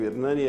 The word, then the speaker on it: Ernane: Hernani é presidente executivo do MBA-R. Essa é a pronúncia, né, Hernani?